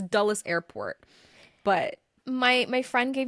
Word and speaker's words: Dulles: That's how you say it, Dulles. Oh, I thought no, I said duels. That's what it was. Duels. I said duels. Most people say duels.